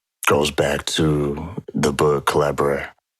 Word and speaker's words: Collabradabra: And that goes back to the book Collabradabra. Can't say Collabradabra. Yeah, that's it rhymes with abracadabra.